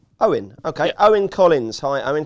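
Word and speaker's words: Eoin: worried about that in how do you pronounce the Irish first name e io n o Owen okay Owen Collins hi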